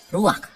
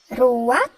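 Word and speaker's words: רוח: Kata dalam bahasa Ibraninya adalah ruach. Ruak? Ya, benar. Tenggorokan kita harus benar-benar bersih di akhir pengucapan.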